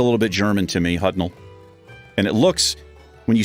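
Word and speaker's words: Hudnall: my last name hutnell h-u-d-n-a-l-l it's pronounced hudnell I used to think it was German it sounds a little bit German to me hudnell and it looks when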